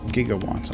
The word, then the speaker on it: gigawatt: made a spelling mistake the correct unit is gigawatts or jigawant giga1 i guess if you're well